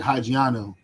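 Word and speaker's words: ὑγιαίνω: And that word for sound in the Greek is hugiano. That's where they pronounce these things. It sounds like hygiano, right?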